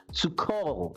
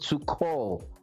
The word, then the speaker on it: Tuchel: the podcast um thomas to call as is pronounced in german if um if i'm sounding right but it's pronounced to call well if i'm wrong